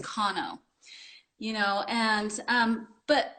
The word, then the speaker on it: Kanno: to to correct people and say oh it's pronounced kano you know and um but but there are